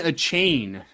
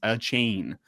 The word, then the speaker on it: Achane: we can wrap up here yeah uh devon a chain is how you pronounce it apparently you determine that for sure